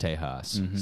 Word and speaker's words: Tejas: Texas and uh buddy I believe it's pronounced Tejas so we'll let you slide